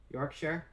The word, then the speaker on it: Yorkshire: not supposed to be it's supposed to be just like one syllable figured out how to